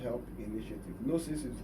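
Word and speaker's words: Gnosis: Now you can also follow me on Facebook or or the Nosis help initiative. Nosis is G N O S I S. The G is silent.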